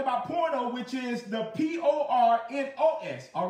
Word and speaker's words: pornos: But porno, when it's talking about porno, which is the P-O-R-N-O-S, all right, pornos, P-O-R-N-O-S, and we understand porno, amen, pornos is talking about a male, amen, or a male prostitute, all right, pornos, P-O-R-N-O-S.